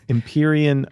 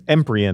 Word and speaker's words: Empyrean: think next up is the title imperion Isles Eman Isles and Peter says empan ises so I did